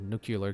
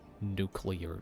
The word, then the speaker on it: Nuclear: Oh, thank you for the follow, Nuclear Gang. I think I mispronounced that. Nuclear. No, it's nuclear, because it's like NU and then clear. And I said it as nuclear.